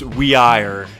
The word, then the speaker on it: Weir: I think it's Weir if you want to be, completely precise, but Weir is fine.